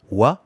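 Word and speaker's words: は: dans cette dans cette phrase là donc watashi wa watashi ces jeux ouah c'est le thème notre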